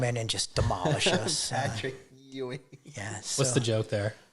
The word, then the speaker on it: Patrick Ewing: Patrick Ewing.